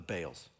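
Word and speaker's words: Baals: Israelites again prostitute themselves to the balls or the Bales technically pronounced but all they set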